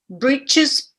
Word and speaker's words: breeches: And without T in the middle. Breeches. Breeches, breeches. Actually, the TCH is Yeah. pronounced exactly the same as the CH. So without T. However you conceptualize it. In English, when you see TCH, you don't pronounce the T separately.